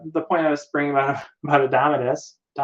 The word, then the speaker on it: Indomitus: The point I was bringing about Indomitus. I mispronounce. I keep Indomit. It's a tuss, right? It's not Nuss. It's Tuss. Indomitus, right?